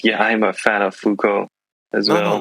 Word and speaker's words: Foucault: Yeah, I'm a fan of Foucault as no, well, not and that you're a fan of Foucault.